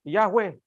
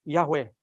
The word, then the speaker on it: Yahweh: Yesus bukan berjalan keliling-keliling di Israel menyebutkan Yahweh. Nama Allah belum tahu? Yahweh.